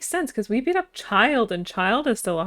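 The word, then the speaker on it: Childe: Yeah, child. That's how you pronounce his name, John.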